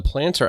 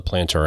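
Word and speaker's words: Plantr: lot of fun using this app and the planter app which is spelled p l a n t r is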